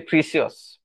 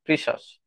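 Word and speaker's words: precious: কথাটা মনে রাখবেন সবচেয়ে প্রিসিয়াস প্রিসিয়াস প্রিসাস প্রিসাস বলেছি আপনাদের একটা ক্লাসে বলেছিলাম যে সিয়াসটা হবে না এটা হবে শ্বাস প্রিসাস মানে হচ্ছে মূল্যবান।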